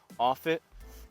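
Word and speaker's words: Offutt: I had to look this up for the pronunciation offit AFB which was offit Air Force Base um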